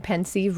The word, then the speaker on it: Pensieve: spoilers I was saying Pensieve wrong the whole time what five chapters left can somebody band Tony for me thanks Tyler people have work and stuff it's pronounced the same way as pensive okay so is that